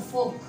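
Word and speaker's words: folk: जैसे मिसाल के तौर पर फोक, आपने ये म्यूजिक का नाम सुना होगा, फोक म्यूजिक।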